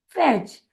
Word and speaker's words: fetch: का उच्चारण ए, और जब कभी भी किसी भी शब्द में TCH यह शब्द एक साथ आता है तो हम उसका उच्चारण करते हैं च। इसीलिए MATCH होता है मैच, CATCH होता है कैच, और FETCH होगा फैच।